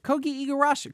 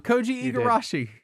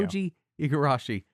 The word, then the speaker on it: Koji Igarashi: Uh which brings us to a topic at hand which is Ki Eigarashi. Co I said it wrong. Koji Eigarashi. There you go. Koji Igarashi.